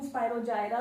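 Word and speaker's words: Spirogyra: Example is स्पायरोगायरा। स्पायरोगायरा सम कई नूं स्पायरोजायरा भी प्रोनाउंस करते हैं, कोई गलत नहीं हैगा उहदे च।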